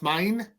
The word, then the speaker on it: Meine: There were 3 albums where, for the Scorpions, that Klaus Meine, I think I'm saying it right, yep, that's mine.